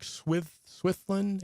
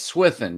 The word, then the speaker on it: Swithin: It's Eric Swithlin. Is that how you say his name? I think it's Swithin, yeah. Swithin.